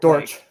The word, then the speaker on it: Dortch: How do you pronounce his last name? Dortch. Dortch.